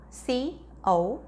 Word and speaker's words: cough: 세 번째 단어 C-O-U-G-H. 발음교 확인해 볼게요.